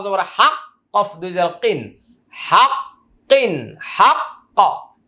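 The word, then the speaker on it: حق: হাক কফ দুই কিন হাক্কন হাক্ক আমরা যদি এখানে ওয়াকফ করি উচ্চারণটা হবে হাক্ক মজা আছে কোরআন পড়া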